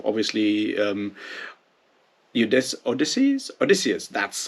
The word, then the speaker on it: Odysseus: is sort of obviously um you this odyssey's odysseus that's how you how to pronounce the guy or odysseus which means you know why actually kill everyone